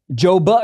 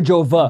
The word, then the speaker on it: Jove: Joba or Jova? Jove. How do you spell it?